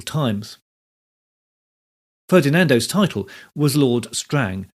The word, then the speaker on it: Strange: ferdinando's title was Lord Strang spelled strange but pronounced Strang so the troop was